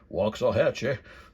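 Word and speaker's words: Waxahachie: I got this one at the Red Barn antique store in Waxahhatche or I think how the locals say it. Wah Hatche Waxah Hatchee.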